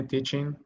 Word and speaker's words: teaching: Y aquí la pronunciación llega hasta la N, teaching. Teaching, no decimos tanto la G, no se pronuncia fuerte, teaching.